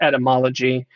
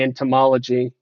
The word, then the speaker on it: etymology: speaking of of entomology jedi notoriously mispronounced etymology every time he said the word he would always say entomology and i was like oh that's not how you say this word is exactly why i